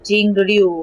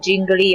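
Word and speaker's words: Jingliu: Star I was meaning jinglu I was saying her name jingly all the time I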